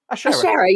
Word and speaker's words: Ashera: Ashera, you said it perfectly.